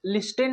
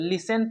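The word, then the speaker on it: listen: तो इसे हम लोग लिस्टेन नहीं पढ़ेंगे दोस्तों, लिसन पढ़ेंगे।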